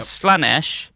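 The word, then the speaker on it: Slaanesh: One I don't even know how to pronounce. Chineksh, I guess. Oh, right. Yeah, there's a Yep. Slanesh.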